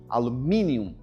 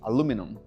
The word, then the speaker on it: aluminum: Inglês britânico, ela vai ter o i alumínium. E no inglês americano, ela vai tá sem o i, aluminum.